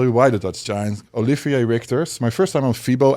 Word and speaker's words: Olivier Richters: Olivier Richters. My first time on FIBO, everybody was coming, "Who are you? Your name?" Nobody understood. I said, "Olivier Richters." That's how you say it in Dutch.